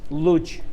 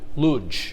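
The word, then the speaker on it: Łódź: Well, of course, you got problem here because L has got to change to L. L or L. So Lodz is actually has a first letter L with a, and this is L now, not L. So the right way to say it is Lodz.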